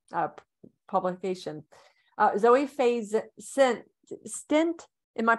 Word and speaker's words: Stindt: a second press uh publication Zoe phase sent stint am I pronouncing that correctly stint and yeah it's a tongue twister yeah I